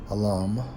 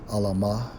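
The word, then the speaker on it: אלם: According to the Hebrew Strong's H 48:3 or 400, it's like a Strong's H 483, pronounced as alam or alama, which means mute, silent, dumb, unable to speak.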